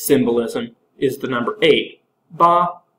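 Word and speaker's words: 八: is the number eight ba which sounds similar to fa which means wealth uh it's considered extremely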